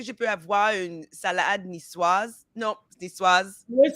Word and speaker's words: Niçoise: So, yes, Niçoise has an E on the end. You would pronounce the S.